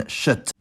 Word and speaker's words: kött: In native Swedish words, before any front vowel, K is pronounced [ɕ], like in kött, and G is pronounced [j], like in gäspa.